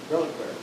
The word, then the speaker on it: reliquary: Reliquary.